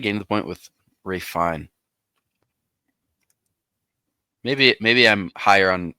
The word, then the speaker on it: Ralph Fiennes: I feel like we're kind of getting to the point with Ray Fine. Maybe I'm higher on Ray Fine than others, but I think that I think he has an S after his name.